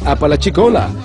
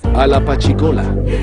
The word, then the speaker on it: Apalachicola: Debí decir Apalachicola, pero lo que me salió fue Alapachicola. Esa es una ciudad india, tiene un nombre indio aquí en la Florida, Apalachicola, o sea, el nombrecito se las trae también.